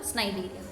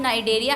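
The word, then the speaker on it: Cnidaria: यहाँ पे आपको करना है फाइलम स्नाइडेरिया। तो मैं स्नाइडेरिया बोलते पर आप नाइडेरिया बोलेंगे क्योंकि नाइडेरिया सी इज साइलेंट।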